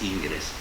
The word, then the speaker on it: Ingres: Yo digo que es un enamoramiento, porque el famoso pintor, que yo siempre lo pronuncio en español, ¿verdad? Porque no sé, en francés, Ingres, pongámoslo en español.